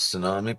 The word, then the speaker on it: tsunami: Trump's tweet cause tsunami probably tsunami silent letteration.